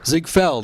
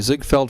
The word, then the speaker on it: Ziegfeld: on the stage in the Ziegfeld Follies and Zig Feld I'm sorry zig felt Follies so mispronounces that that word everybody all right so